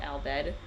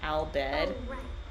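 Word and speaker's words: Al Bhed: I didn't understand why they were called Albed as a kid. It wasn't until like I was 20 I got it cuz aled kind of sounds like the Japanese pronunciation of the English word alphabet cuz alphabet aru fab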